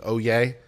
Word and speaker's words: Oyez: I have the audio, but OYEZ, Oyez, it's pronounced Oyez in case you wanted to know.